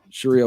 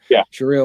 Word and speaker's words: Sharia: jealousy, like that they get, or it was Sharia law. Did I say it right? Yeah. Sharia law.